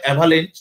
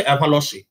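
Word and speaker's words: avalanche: একে বলে অ্যাভালেন্স, যদি আমরা বাংলায় অ্যাভালেন্স উচ্চারণ করছি, কিন্তু অ্যাকচুয়ালি এটা একটা ফরাসি শব্দ, কারণ ফরাসি আলপসে এটা প্রচন্ডভাবে দেখা যেত। অ্যাভালসে, অ্যাকচুয়াল উচ্চারণটা হচ্ছে অ্যাভালসে, ঠিক আছে?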